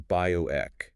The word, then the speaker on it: biopic: And there's something funny about how we say it. Yeah, the pronunciation. And originally, it seems it was B-Y-O-pic. Makes sense, right? Bio plus pic. Sure. But often today you hear bioec, which is probably, well, folk etymology, people just guessing how bio and picture